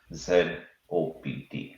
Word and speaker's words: zOpt: Z op Z yeah I spelled as Z op so uh so I'll be referring to zop so don't be alarmed saying that I'm talking about a different company no this is how we pronounce our company uh so coming back